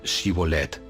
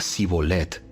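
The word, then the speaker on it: shibboleth: no no lo soy ellos le pedían que pronunciara la palabra xivolette si era de Efraín diría sibolet porque a la gente de Efraín le cuesta pronunciar bien esa palabra entonces se lo llevaban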